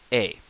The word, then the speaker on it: え: the letter E, but it's pronounced A, as in paint, ne, A.